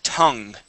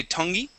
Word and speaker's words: tongue: word this word is tongue okay the e at the end is silent so we wouldn't say tongy we would say tongue try that tongue good